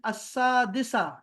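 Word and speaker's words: السادسة: अल अस्सादिसा, ये लाम is silent हो गया, लाम इज साइलेंट।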